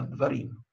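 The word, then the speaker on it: דברים: То есть не давар, а дварим.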